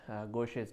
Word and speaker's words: Gaucher: उस डिज़ीज़ का नाम जो है वो है गोशेस डिज़ीज़। हम सब टाइटल्स में उसकी स्पेलिंग लिख भी देंगे, क्योंकि ये एक फ़्रेंच डॉक्टर थे, उन्होंने डायग्नोज़ की थी और रिसर्च की थी।